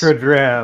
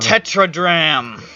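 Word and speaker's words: tetradrachm: Oh, it's pronounced Those all dram. Oh, dram? Okay, that makes sense. Tetradram. Tetradram.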